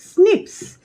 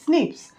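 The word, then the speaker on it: SNPs: will see what is snips s n p s pronounced as snips first repetitive dna this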